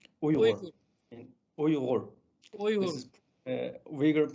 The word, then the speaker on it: Uyghur: The word Uyghur, we pronounce in our language, in Uyghur language, Uyghur. Uyghur.